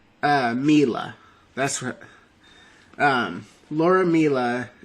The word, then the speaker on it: Miele: toxic work culture um this was laura miele uh or no sorry i actually did look up how to pronounce her name it's laura mila that's what um laura